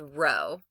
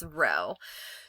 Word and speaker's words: rho: We pronounce it, it's called rho. Okay, that's rho.